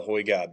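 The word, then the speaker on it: Højgaard: Um Nikolai and Rasmus Hoygart. Um you know, very good pronunciation of the Hoygard.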